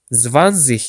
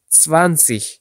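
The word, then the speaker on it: zwanzig: yaşındayım Ben 24 yaşındayım Almancada Z harfini telaffuz ederken t s sesi çıkartmaya çalışmanız gerek yani zvan demek yerine sans demeniz demeniz daha doğru olacaktır yani Ben 24 yaşındayım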